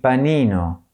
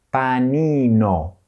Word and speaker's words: panino: Il panino. Il panino. Il telefono. The telephone. Here too, you have to move your mouth a lot. Il telefono. Telefono. the letter I is always pronounced E, as in panino, and the letter E